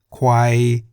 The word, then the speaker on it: ควาย: For example, Gai in the low tone meaning chicken, Kwai in the middle tone meaning buffalo, Chang in